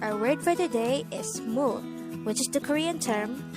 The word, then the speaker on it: 물: koreans cold water as mo and this is considered a noun mole is composed of just one syllable which is formed from the combination of the sounds of mium uh and real and with that you